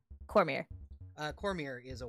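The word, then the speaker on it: Cormyr: Cormier. Cormier is a Y. Oh. Google actually made a helpful suggestion for once. Cormier, the Maybe. home of the It's spelled like Khmer.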